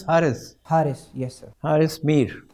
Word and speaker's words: Haris: It's pronounced as Harris.